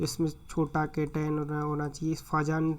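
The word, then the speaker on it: Fajans: फायान rule या फाजान rule, जो भी फायान या फाजान रूल, जो भी आप कुछ भी बोलने वाले सबका अलग अलग प्रोनाउंसिएशन करते हैं, तो जनरली मैं फाजान रूल से इसको प्रोनाउंसिएशन करता हूँ।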